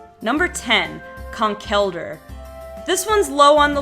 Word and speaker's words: Conkeldurr: how it was pronounced my immediate instinct was Conkeldurr because he kind of had this look on his face that was like her you know he's all muscle no brains kind of a thing so I thought Conkeldurr but when I finally found out that his name was conch elder it made a lot of sense to me to be